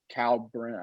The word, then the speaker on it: Kalkbrenner: Yeah, so Ryan Kalkbrenner, I don't even know how to pronounce that. Kalkbrenner, yep.